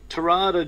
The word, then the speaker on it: Terada: he's pretty good at martial arts Steve uh terada joins us I was nearly going to say Steve Tera has it spelled but it's not as pronounced and we were talking about pronunciation earlier Steve terada joins us hello there Steve how are you